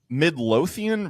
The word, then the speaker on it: Midlothian: every day is a bourbon day so rich Midlothian Virginia is that is that current did I pronounce that right y that is that is